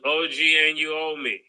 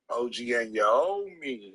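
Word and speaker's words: OG Anunoby: the name right murder no it's OG and you me OG and Y me okay whatever how you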